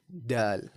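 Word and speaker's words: دال: The next letter we have here is dal. Right? Dal like dal and rice.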